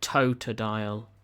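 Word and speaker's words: Totodile: do this one next stream hopefully alongside a toad dial that's how you say it who else have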